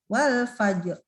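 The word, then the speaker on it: والفجر: tebal terlalu tipis lo Fajar ngajak nya tebel karena tadi ini sesuai dengan yang ini ya suku rohingya support for sebelumnya cukur baru sebelum lagi Hah jadi bacanya tebel Wal Fajr lanjut alfaj ya janggaru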